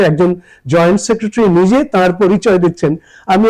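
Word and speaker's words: secretary: যুগ্ম সচিব যেটা joint সেক্রেটারি সেক্রেটারি সেক্রেটারি joint সেক্রেটারি সে স্ট্রেস দিচ্ছেন সেজন্য বাকিগুলো একটু অস্পষ্ট এবং ছোট্ট করে বলতে হবে সেক্রেটারি জয়েন্ট সেক্রেটারি তো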